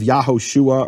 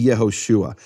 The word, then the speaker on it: Yehoshua: How do I know where this emphasized syllable is in Yeshua? Well, because it can only be the final or second to last syllables. Only the possibilities in Hebrew. You can't have Yahoshua or Yahshua. It has to be Yehoshua.